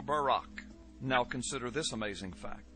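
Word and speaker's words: ברק: a flash of light in Hebrew is pronounced Barak or Barak now consider this amazing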